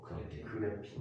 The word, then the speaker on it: 그래핀: 요즘 그라핀 배터리도 나온다고 하던데 그라핀이 리튬보다 훨씬 더 좋대요. 그라핀이야? 그라핀 탄소 그거 그래핀. 그래핀.